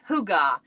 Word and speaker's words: hygge: It's pronounced Hygge.